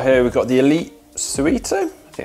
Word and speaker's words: Suito: we've got the elite suite oh yeah that's how you say it super compact design I'm